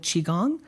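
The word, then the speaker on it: qigong: my meditation practice but I'm also um learning chiong it's spelled Qi g n and what I've learned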